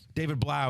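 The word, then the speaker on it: David Blough: I forget who made this tweet, but David Blau is how you pronounce it.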